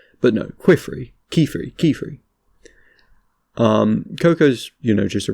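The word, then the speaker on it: Qifrey: in my videos, but I pronounced him as Quifrey, which, you know, I thought that made sense, because he's a scholarly guy, he draws with a pen, so it's like Quill and Free or something.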